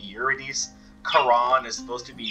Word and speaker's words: Eurydice: i have to question i've always heard it pronounced eurodis not eurodizzy um is there anyone out there that knows the the proper pronunciation because i get the feeling that you know like you're a dissie i i'm pretty sure it's supposed to be yuridis quran is supposed to